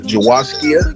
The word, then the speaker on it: Jawaskia: for well my uh my first name is jawaskia it's spelled j-a-w-a s-k-i-a oh my god that's really